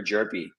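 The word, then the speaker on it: Hjerpe: So number 12 here is Cooper Jerpy, spelled with an H, Cooper Jerpy, with the Cardinals.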